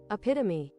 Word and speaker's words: epitome: Should I epitome pronunciation? American pronunciation. Hold on. Epitomy.